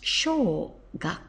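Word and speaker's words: 小学校: to school and you get small school it's pronounced sh gak it means primary school and it's quite easy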